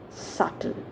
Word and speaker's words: subtle: good very nice one okay so we speak it as subtle fine now the last